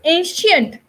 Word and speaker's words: ancient: So it's ancient. Okay, it's proficient. We write c, but we pronounce like sh.